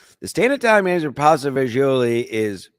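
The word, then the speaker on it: pasta fagioli: My grandmother always in my Italian side always calls it pasta vazul. Uh it's spelled pasta f a g i o l i.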